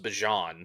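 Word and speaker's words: Bijan: Like even even Bjon Robinson even Bjan Robinson who said his name is pronounced Bjon Bjon said Bjon.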